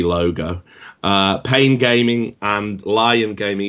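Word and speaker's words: Lyon: Uh, Pain Gaming and Lion Gaming, even though it's spelled Leon, it is Leon. Yeah, apparently it's Apparently it's Lion.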